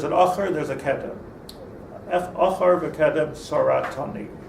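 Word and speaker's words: אחור וקדם צרתני: Achar v'kedem saratani is the proper pronunciation.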